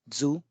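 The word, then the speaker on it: づ: The third line we have da, ji, zu, de, do. Here it should have been do, but it is pronounced as zu.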